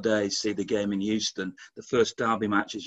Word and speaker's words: Houston: Houston is how we say it.